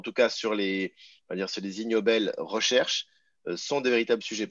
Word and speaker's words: Ig Nobel: les é g nobel donc prononcé ig nobel la voilà les ignobles